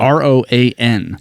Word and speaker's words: Roan: I thought you were saying I said Rowan, Rowan. like Is it Rowan? Rowan. I was pronouncing it Rowan. Is it Roan? I don't know. It's a Roan, I believe.